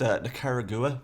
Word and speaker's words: Nicaragua: It's actually pronounced Nicaragua.